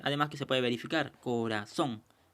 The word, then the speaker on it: corazón: Corazón. Bien, la mayor fuerza de voz, la mayor pronunciación es en la sílaba son.